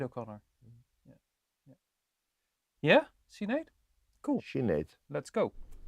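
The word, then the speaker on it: Sinéad: perhaps yep uh Sinead yeah how do you pronounce it Sinead O'Connor yeah yeah see Nate cool she needs let's go foreign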